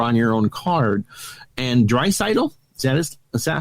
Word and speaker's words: Draisaitl: And Draisaitl, is that how you pronounce it?